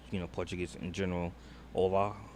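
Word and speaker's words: olá: Ola I think it's pronouncing you drop the H and there's O Lola.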